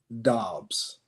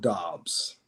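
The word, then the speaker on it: Dobbs: I'm g go with DOs okay go with DOs it rhymes with jobs J and then on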